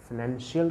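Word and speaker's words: financial: देखिए actually फाइनेंस होता है, लेकिन फाइनेंशियल के लिए हम श प्रोनाउंसिएट करते हैं क्योंकि यहाँ पे टू वॉवल्स एक साथ आ जाते हैं, तो फाइनेंस एंड फाइनेंशियल।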